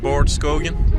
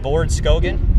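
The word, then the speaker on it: Baard Skogen: fake one let's go it's like bored skogen light board skogen yeah it sounds pretty good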